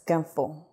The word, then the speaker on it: ganfo: Okay, Semhar, am I pronouncing that correctly, first of all? Yes, it's ganfo.